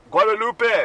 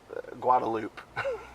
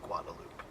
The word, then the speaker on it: Guadalupe: bit what a little bit you like you pronounce it like Guadalupe right right but in here it's called Guadalupe it's anglicize hey even people of Spanish ancestry who are Austinites native Texans will say Guadalupe or it's also known as a drag so